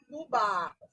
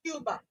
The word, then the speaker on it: Cuba: Kuba. Not Cuba.